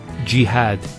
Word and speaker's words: jihad: Next word is jihad. So we have here G, that's the first syllable, and then had, jihad.